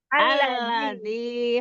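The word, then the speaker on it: الذي: tafadol alladzi betul Ustazah alladzi khak ujung lidahnya e pada saat pengucapan huruf Dal itu sedikit keluar alladzi alladzi nah ujung lidahnya keluar sedikit allziqwa allziqwa allziqwa Masyaallah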